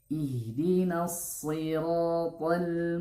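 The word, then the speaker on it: صراط: Ihdinas huruf shad, ya. Bedakan dengan huruf sin, bukan ihdinas siratal, bukan ihdinas siratal, tapi ihdinas ya, huruf shad. Ihdinas siratal mustaqim.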